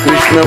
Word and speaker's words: कृष्ण: कल एक प्रभु जी बता रहे थे बिल्कुल सीधा बैठ के नाम लो और कृष्णा नहीं बोलना, कृष्ण बोलो, उच्चारण ठीक से करो।